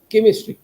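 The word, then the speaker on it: chemistry: इसलिए केमिस्ट्री से बना केमिस्ट्री लेकिन देखिए आप ध्यान से देखेंगे तो सी लिखा है वहा पर उच्चारण च होना चाहिए लेकिन हम उसको केई की तरह करते हैं ऐसे कई सारे शब्द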